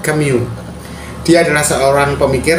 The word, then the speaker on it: Camus: dia adalah Albert C tulisannya Albert camus tapi kita bacanya Albert kemu Dia adalah seorang pemikir